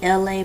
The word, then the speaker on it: LA: This is me, LA, pronounced like LA, like the city.